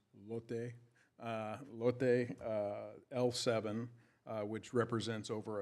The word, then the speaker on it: Lotte: It actually is pronounced Lotte.